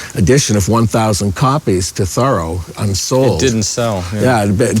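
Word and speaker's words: Thoreau: we pronounce his name thorough thorough like a thorough job we live in an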